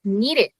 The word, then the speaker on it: needed: like merged you just do a little tea and with kneaded you do the the Latino thing that that Mar explained.